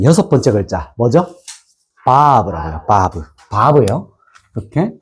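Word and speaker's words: ו: 바브. 바브예요. 이렇게 쓰 보여 줄게요. 자, 보세요. 자, 요렇게 좀 왔다가 쭉 내려와요. 맞나요? 이게 뭐라고요? 바 바브. 그래서 바프라고도 하기를 하는데 보통 발음은 바브라고 하고 숫자값은 몇일까요?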